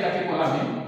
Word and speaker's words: catécholamine: On les appelle encore ici, je peux mettre ça comme ça ici, les catécholamines. Donc, on les appelle les catécholamines. Donc, faites attention à la prononciation. On écrit catécholamine, mais on prononce catécholamine.